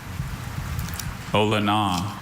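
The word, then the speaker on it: olona: Ola. Ola. Are there any alternate pronunciations?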